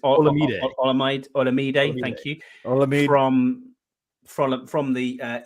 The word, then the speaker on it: Olamide: I can't pronounce his first name. I think it's Olamide. Olamide.